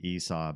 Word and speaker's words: Esau: I'll look it up it's apparently Esau because it rhymes with seesaw in the poem that that named character is in Saw yeah cuz the first line is I saw Esau sitting on a seesaw uh yeah okay Iona